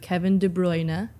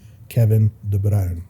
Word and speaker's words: Kevin De Bruyne: yeah Kevin De bruyne they they mispronounce his name that's why I sent you that that thing the other day of him actually pronouncing his name Kevin de brown Kevin De Brown and